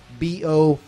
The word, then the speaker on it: Borknagar: Like the Swedish chef Bork. The A would be long because there's only one. Yeah, that's why. Thing at one consonant after it like that, so it wouldn't be Borknagar.